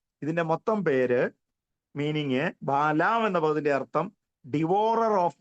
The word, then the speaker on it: ബാലാം: ഈ ബാലാമിന്റെ, ബിലയാമിന്റെ, ഈ മലയാളത്തിൽ ബിലയാം എന്ന് പറയുന്നത് ബലാമയ, ബാലാം എന്നാണ് ഇംഗ്ലീഷിൽ.